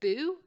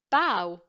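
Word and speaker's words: bough: through and this one is it boo no its bow okay so if oh ugh is a bit of an anomaly there are four different ways you can pronounce it right so B ough is bow so how are we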